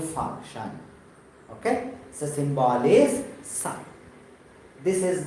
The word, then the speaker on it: psi: That word is psi, where P will be silent. So psi. Some students they will tell psi, psi. Not like that. P is silent, psi.